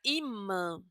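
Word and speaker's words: ímã: Pero fíjense que esta i a pesar de que lleva tilde, también será un poquito nasal por la m. Ima. Esa palabra es totalmente nasal.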